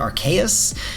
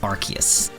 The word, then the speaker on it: Arceus: trailers called it arceus i used to call it archaeous i changed it because that's what they say the official sources arceus okay i know there's a lot of debate in the community about how you say it and this is obviously arseis as some people say but that's translated from japanese that doesn't work all right it's arceus so guys this is